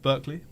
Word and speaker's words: Berkeley: Berkeley. Barkley. Barkley.